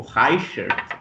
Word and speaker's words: Reichert: Apesar do meu nome completo ser Reichert, mas eu acho que o Reichert, que eu pronuncio Reichert também, mas o correto é algo tipo Reichert, né?